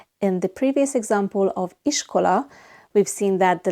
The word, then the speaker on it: iskola: Iskola. The letter I in Hungarian is always pronounced I, like in the English words in or thin. And the letter S in Hungarian is pronounced sh, like in shower.